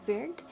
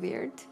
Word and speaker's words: Wyrd: company that made the minis the company called weird if i'm pronouncing correctly this kind of hard name but it's called weird w r d really cool and we got